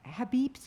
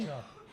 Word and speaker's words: hijab: me if I'm wrong, that Habibs is that how you say the... Hijab. So, You mean cover? the cover. Hijab.